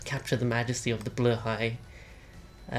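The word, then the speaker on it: Blåhaj: is what's known as a blur High I'm 80% sure that's the correct pronunciation it is a Ikea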